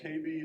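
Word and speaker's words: Kaby Lake: pretty picture this is the KB Lake yes KB is pronounced to write with baby just just remember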